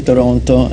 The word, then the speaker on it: Toronto: That's if you pronounce the last T, you don't know much about Toronto. But Toronto.